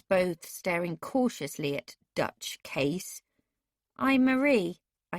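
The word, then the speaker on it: Kees: remarked the young man my name is case that is spelt k-e-e-s it is short for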